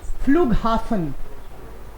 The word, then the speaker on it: Flughafen: आप इसको H silent क्यों नहीं है इसलिए पूछ रहे हो. एक्चुअली ये दो वर्ड है, दो डिफरेंट वर्ड है.